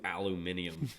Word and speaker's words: aluminium: like his buddy was like no let's do aluminium because it sounds cool and he was like